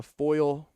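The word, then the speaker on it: Foyil: you actually have two instances of that uh foil foil i guess that's how you say it foil f-o-y-i-l foil high school uh is at claremore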